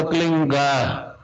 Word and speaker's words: क्लीं: होता है एक शब्द क्लींग शब्द क्या आधा ला में मिला हुआ, बड़ी एक ही मात्रा और बिंदी, उसका उच्चारण होगा क्लींग गा। गा की ध्वनि निकलेगी पीछे।